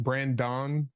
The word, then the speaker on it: Brandon: It is pronounced Brandon with an O, and Hersey like the candy bar without the second H.